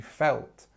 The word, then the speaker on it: felt: with the past form she felt and felt is using this e and actually it's kind of it almost writes in pronunciation form in the in the phonetic alphabet than it does in the real in the normal alphabet felt so make sure that you understand the differences between feel and felt okay I know the